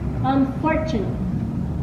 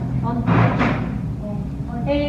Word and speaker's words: unfortunate: It said that you should have emphasis in the second syllable. Unfortunate. Yeah? Unfortunate.